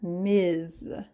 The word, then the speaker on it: Ms: one and last one Miz here the z sound Miz there are four basic ways